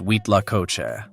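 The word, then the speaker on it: huitlacoche: known as corn mold written like this wheat Laos but pronounced wheat La Coe for most of us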